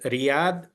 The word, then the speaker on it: Riyadh: Like Riyadh, it is a light letter.